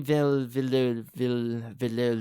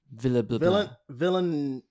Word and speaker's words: Villeneuve: No, it's Denis Villeneuve. Hold on, let me see if I can pronounce it. Villeneuve.